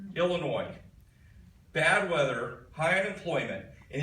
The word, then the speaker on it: Illinois: with his tongue the other state with a silent s Illinois bad weather high unemployment